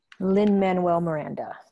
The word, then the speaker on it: Lin-Manuel Miranda: coup that they got Lin-Manuel, how do you pronounce his name? Lin-Manuel Miranda.